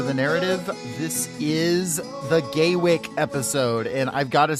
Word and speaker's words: Gaywyck: We're on Gay Wick, like with a space between it, like it's John Wick.